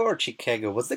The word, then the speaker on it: Chicago: And is it Chicago or Chicago? What's the correct pronunciation, actually? So we have a tendency to say Chicago or Chicago. We have a Midwestern long A that we kind of drag out.